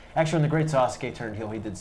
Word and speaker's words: Sasuke: also the great Sasuke, but Or Joey Styles pronounced it Sasuke. no, Not quite pronouncing it the full way. it's Sasuke, kids. Say it with us at home. Sasuke.